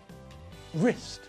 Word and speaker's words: wrist: w is silent and in the same way we don't pronounce the silent w in these words either rap right wrestle wrist now with the words